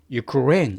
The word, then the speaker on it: Ukraine: 나라 우리 우크라이나라 그러는데 영어로는 우크라이나가 아니라 어떻게 발음되냐면은 Ukraine 이렇게 레 강사가 들어갑니다.